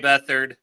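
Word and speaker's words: Beathard: Bethard, who was like, you know, who started a couple games for San Francisco here and there, CJ Bethard. Sorry. Sorry. I knew I pronounced that wrong.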